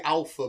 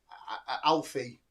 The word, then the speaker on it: Alpha: was supposed to be Alpha, but they kept calling them. She said it wrong. Alpha. Alpha. Yeah, that was the name. It was supposed to be. They kept saying Alfie.